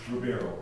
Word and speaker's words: Ribeiro: How do you pronounce the last name? Ribeiro.